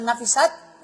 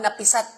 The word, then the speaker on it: nafisat: At kabilang dito ang salitang nafisat, na binibigkas ng may fatha sa nun, na tumutukoy sa babae kapag siya ay may rigla. Kaya at yung mga babae, kapag babae, nafisat ang tawag, nafisat. O wag mo lang gawin napisat. Problema yan.